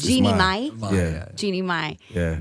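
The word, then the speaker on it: Jeannie Mai: Your new girlfriend is for the real co-host Jeannie Mae. Am I pronouncing her name correctly? No, you're not. Is it It's Jeannie mine.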